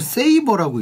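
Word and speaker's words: Sabre: 이걸 세이버라고 읽더라고.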